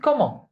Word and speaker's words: comment: We don't pronounce it comment. We pronounce it comment. The T is silent because it's the last consonant, okay?